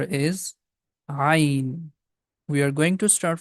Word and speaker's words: ghain: The name of this letter is Ghain. Letter Ghain comes from the beginning of the throat. It has GH sound, Ra sound it has, Ghain.